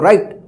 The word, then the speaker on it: right: देखिए तो आई के बाद क्या है? GH है ना, तो इस आई का आई उच्चारण होगा। क्या पढ़ेंगे इसको? राइट।